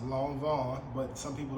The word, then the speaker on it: Lanvin: little history on it so long Von is pronounced long Von but some people like to pronounce it lanin um it is one of the oldest French